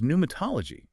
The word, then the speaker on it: pneumatology: Most of those new words relate to air or medical contexts, but there's pneumatology, the study of spiritual beings. Ah, yes. It still has the silent P, but it feels completely out of left field.